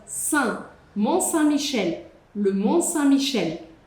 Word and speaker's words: Saint: Saint tem que ter um sorrisão. Saint.